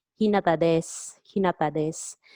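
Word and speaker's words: です: So if you are Hinata, you say Hinata desu, Hinata desu. So desu pronounced as des, Hinata desu.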